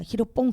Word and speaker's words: 히로뽕: 하는데 그러면이 히로뽕을 그러니까 히로뽕 그러니까 좀 그랬단 만네이 필로폰 메타임 일본식 발음이 히로뽕 히 틀린 것 아닙니다 그러지 않는데 느낌이 우리